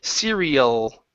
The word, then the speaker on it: cereal: Okay, working on that R to the L. Cereal. Cereal. Uhhuh. Get that L sound. O. Cereal.